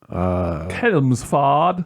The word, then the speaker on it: Chelmsford: James from, I'm gonna say Chelmsford is how you pronounce that in the UK. Mm. Chelmsford.